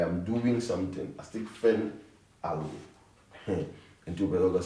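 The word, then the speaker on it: fent: Fen. The T is silent.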